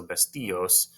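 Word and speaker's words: vestíos: The problem is that you have to add an accent mark over that I to maintain the stress on the I. So vestillos will be the pronunciation for that one.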